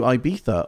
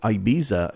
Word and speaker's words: Ibiza: Um and we're flying to Iba or Ibiza if you're again depending on your pronunciation.